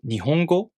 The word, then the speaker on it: Nihongo: For example, the word Nihongo. Let's say each kana takes one beat to pronounce. Then the word Nihongo takes 4 beats to pronounce. Ni, ho, go.